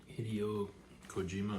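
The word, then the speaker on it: Hideo Kojima: this Japanese game delve developer named Hideo Cojima Hideio Cojima. I think that's how you pronounce it.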